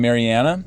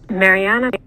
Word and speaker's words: Mariana: So there's, as we said before, there are two stressed syllables in Mariana, the first syllable and the third syllable, first and third.